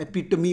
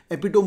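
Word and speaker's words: epitome: अब एपिटोम word last year cat में था, एपिटमी बोलते हैं इसको, एपिटोम मतलब highest point, she इज the highest, she इज द एपिटोमी of beauty, एपिटोम भी बोलते हैं, एपिटमी इज the right pronunciation.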